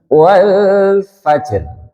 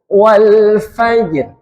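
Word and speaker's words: والفجر: Huruf jim dan huruf ro sama-sama sukun. Jimnya sukun asli, rnya sukun arid, sukun jadi-jadian. Tadinya enggak sukun jadi sukun. Nah, kemudian cara membacanya jimnya dulu disempurnakan. Jim sifatnya apa? Siddah. Karena masuk di baju kan sidah nggih. Berarti lek enggak ada ekornya langsung. Wal fajr.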